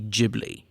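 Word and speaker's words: Ghibli: of been folded into gibli but gibl jibli whatever you want to call it um that's what I also wanteded to get into it's JBL is the name of it okay so let's talk about this yeah so in Japanese it would be jibli or you you the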